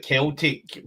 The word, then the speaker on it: Celtic: So what I would say, Floyd, is, so I'm assuming he's putting up keep it Celtic, but yeah, hard C.